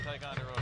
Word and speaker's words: Ticonderoga: All of a sudden I knew what they were meant, but Didn't look like Ticonderoga.